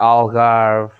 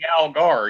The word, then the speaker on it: Algarve: They start with the AL words, which is the, and the Algarve, and a lot of cities and stuff. Yeah, you said it right with the Algar, yeah. Yeah, the Algar. It's not Algar. Algarve.